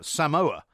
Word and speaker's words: Samoa: I mean, have you seen the way that the New Zealand All Blacks dispatched Samoa, as it's now pronounced in the correct form?